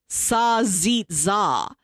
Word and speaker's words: salsiccia: Salsiccia. And it's spelled like salsita, but it is exclusively pronounced Sazitza.